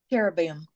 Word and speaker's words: Cherubim: Cherubim.